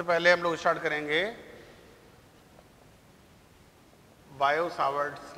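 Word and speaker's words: Biot-Savart: अब इसमें देखिए, सबसे पहले हम लोग स्टार्ट करेंगे बायो-सावर्ट्स लॉ। ये इसमें टी साइलेंट होता है, टी, इसको क्या पढ़ते हैं? बायो-सावर्ट्स लॉ।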